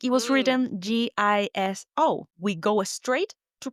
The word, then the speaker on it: guiso: We don't pronounce the U. It's like it was written G I S O. We go straight to pronouncing the I. That's right. We're not saying guiso.